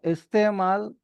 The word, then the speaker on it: इस्तेमाल: तो इस्तेमाल इसके करेक्ट प्रोनाउंसिएशन है। हल्की सी साउंड अ की बीच में आती है जो कि एन प्रोवाइड कराता है।